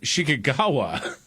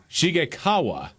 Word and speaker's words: Shigekawa: Joan Shikagawa. All right, now that you've said that. Pronounce it again, David. Shingang, Shanga Kawawa. It's Joan, first name. She's a film producer. It's Joan Shigekawa. Shigekawa, yes.